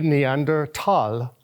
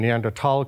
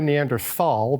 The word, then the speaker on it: Neanderthal: it's discovered in the neander tal or the neander valley that's where the name neander tal comes from it's never Neanderthal because that's just not how you pronounce it in Germany in German so it's the neander